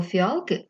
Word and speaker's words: фіалки: в слові три склади давайте поставимо наголос запитайте це фіалки який склад ви протягуєте довше Так це другий склад Отже в слові фіалки другий склад наголошений пригадаємо правила сидіння за